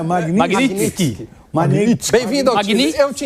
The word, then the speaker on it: Magnitsky: O Sami também é Mas eu acho que esse T é mudo, não é? Magnitsky.